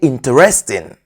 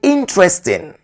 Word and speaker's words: interesting: Don't say interesting. The e after the t is silent. So say interesting.